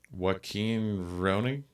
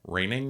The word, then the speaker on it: Rønning: Joachin Rønning? Joachin Rønning? Okay. Who directed... what's that? Rønning, maybe? Yeah, because it's the O with the slash through it.